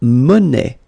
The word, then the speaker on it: monnaie: Then la monnaie, monnaie, okay, final not pronounced, la monnaie, okay, and it means small change.